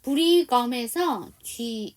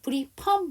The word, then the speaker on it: Brigham: 브리검에서 H가 묵음이죠. 이게 H가 정확하게 발음나면 브리펌 이렇게 될 거예요.